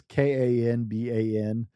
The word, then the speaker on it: Kanban: The canban conban I probably pronounced that right wrong. I'm really it's kan ban.